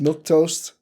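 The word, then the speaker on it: milquetoast: Milktoast.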